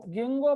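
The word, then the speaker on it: Ginkgo: के साइलेंट रखो इसको, गिंगो बायोलोबा, बायोलोब्ड लीफ होते हैं इसलिए गिंगो बायोलोबा।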